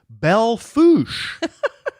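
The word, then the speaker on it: Belle Fourche: Belffoo is the name of the town, pronounced Belle Foo.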